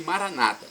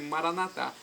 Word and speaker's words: Maranata: católicos né irmãos cristãos dizem Maranata com a tônica na penúltima sílaba Nossa católico dizer Maranata com a tônica na última sílaba não importa pronúncia porque o significado é o mesmo Vem Senhor Jesus um